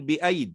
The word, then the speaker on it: بأيد: كذلك نقول بأيد وننطق ياء واحدة.